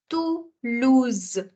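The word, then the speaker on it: Toulouse: going to pronounce as this is my first syllable it should be to it should be second syllable L and my third syllable should be Z so it becomes to lose to lose another city name that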